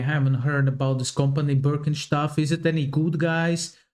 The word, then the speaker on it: Birkenstock: So, English speakers usually say Birkenstock. In German, we say Birkenstock. Birkenstock.